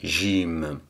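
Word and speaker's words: جيم: mime à la fin et donc ça fait gym au niveau de son écriture ou sa présentation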